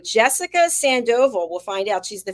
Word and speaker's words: Sandoval: I hope I'm saying her name right Jessica Sandoval we'll find out she's the founder of Jessica Sandoval coaching let's welcome Jessica to the program hello